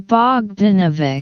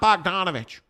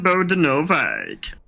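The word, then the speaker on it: Bogdanović: Somebody years ago now was trying to tell us, hey, it's not Bogdanovich. And so we went to Google and did a pronunciation search. Bojan Bogdanovic.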